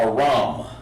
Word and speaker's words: Aram: Not A, it's Ra-am. Aram. Okay? And his biblical name is Aram. Okay? And of course, his the way you pronounce that is Aram. Just like that. Aram. Not Aram, but Aram. You have to give that A the full H sound over there.